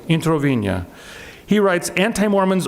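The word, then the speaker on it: Introvigne: the Italian Catholic scholar Massimo intro Puccini is that he pronounced that I think so he yeah he writes intervene eeeh okay intervene yeah he writes anti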